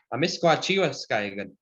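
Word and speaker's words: Amiskwaciy-wâskahikan: You want to know how to say the Cree word for Edmonton? Sure. It's kind of a long word, no? Amisquachiwa Skaigan. Should I say that? Say Amisquachi Amisquachi, Waskaigan. Waskaigan. Yeah, that's Edmonton in Cree.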